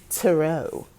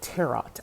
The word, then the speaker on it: tarot: now let's talk about tarot tarot however you want to say it you know a funny thing is i used to call them terrot i pronounced the t in terror um this went on